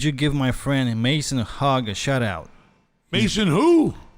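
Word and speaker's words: Haag: Could you give my friend Mason Hogg a shout out? Mason who? Hogg. Hogg? H-A-A-G. Hogg. Yeah, That's a hard name to pronounce. Yeah. So Haig. I think it's Haig. It's pronounced Haig.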